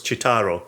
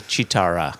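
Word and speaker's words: Cheetara: And of course, just for purists, that is of course Chitaro. So just for purists, Excuse me, Chitara. It's a Chitara.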